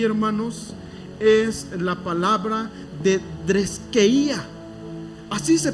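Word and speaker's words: θρησκεία: Y entonces la primera palabra que nosotros encontramos aquí, hermanos, es la palabra de dreskeía. Así se pronuncia, ¿ok?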